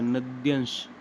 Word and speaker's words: नद्यांश: नद्यांश ऐसे ही उच्चारण होता है ना नद्यांश यह तो लिखने का तरीका है। बाकी यही तो सही है।